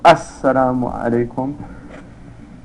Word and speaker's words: Assalamu alaikum: The sitting position, saying the final salam once to exit the prayer, so it's pronounced Assalamu alaikum.